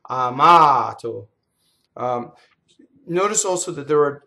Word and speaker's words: amato: Here's a stress with here's a word with the most common stress in Italian. It's on the second to last syllable. So the stress is in the middle of the word. Amato.